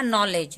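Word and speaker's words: knowledge: पढ़ेंगे अब है हमारा नॉलेज नॉलेज का मतलब होता है ज्ञान नॉलेज को भी तोड़ते हैं यहां पर सबसे पहला तो एक हमारा रूल आ रहा है कि यहां पे के साइलेंट होता है कन क नोलेज नहीं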